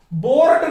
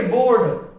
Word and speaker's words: board: यहां पे देखिए BOARD, यहां पे आर के बाद डे की ध्वनि आ रही है, डे व्यंजन है, देख लीजिए इस लिस्ट में डे व्यंजन है, इसलिए आर का उच्चारण नहीं होगा। बोर्ड नहीं कहेंगे, बोर्ड, बोर्ड, बोर्ड, बोर्ड, और यहां पे